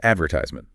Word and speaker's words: advertisement: And then there's advertisement. Right. Americans stress the third syllable, advertisement. While British English stresses the second, adver syllable.